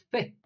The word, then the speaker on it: פ: apertura de la boca la p se lee fe con un sonido suave fe cuando la consonante no tiene punto dentro Vale entonces cuando esta